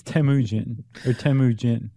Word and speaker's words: Temujin: It's Temujin.